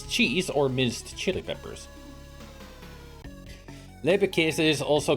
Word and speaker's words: Leberkäse: Leberkäse. Alright, now we know how to pronounce it.